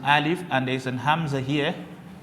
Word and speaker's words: Hamza: to pronounce the Quran you will not say I leave amsa no you only say ah this is and at